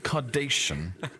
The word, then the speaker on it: Kardashian: Kardashian. I didn't realise it was a hue of paint. So it rhymes with carnation then. Kardashian, I believe, is the pronunciation.